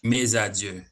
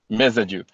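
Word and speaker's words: Mesadieu: Spell your last name for me. M E S A D I E U. Ah, I got it. Pronounce it again for me, please. Maju. Meaju. All right, officer.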